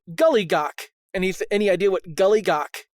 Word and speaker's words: Giljagaur: Uh In English pronounced to Gullygawk.